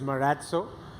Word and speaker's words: Marazzo: rate uh the lighter question I've heard uh marzo marazzo and Maro what's correct yeah so the correct pronunciation is maratu and uh as you know the origination of